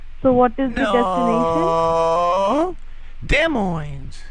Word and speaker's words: Des Moines: now okay you don't have to yell um Des Moines Iowa please could you spell it out hello what could you spell it